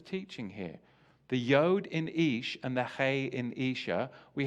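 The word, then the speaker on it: אשה: And wife is spelled Aleph Shin Hey, Isha.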